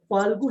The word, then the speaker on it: फाल्गु: फाल्गु शब्द है, ठीक है, फालतू नहीं है, फाल्गु।